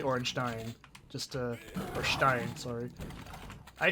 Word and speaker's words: Ornstein: It's never spoken in game, so whatever, but it's spelled like a Germanic word, so it's probably Ornstein.